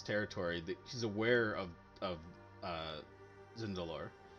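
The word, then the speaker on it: Tzindelor: She's aware of Zindalor. The T is silent, technically.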